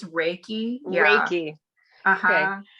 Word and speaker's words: Reiki: Is that, am I saying, it's Reiki. Yeah. Reiki. Okay. I knew I was going to say that wrong because I say it like I see it spelled, but Reiki.